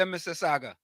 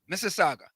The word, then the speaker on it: Mississauga: Let me say it correctly, Mississauga. Mississauga.